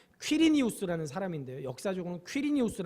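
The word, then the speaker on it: Quirinius: 뇨 라는 사람이 누구냐면 정확한 영어 발음은 퀴리 늬우스 라는 사람인데 역사적인 퀴리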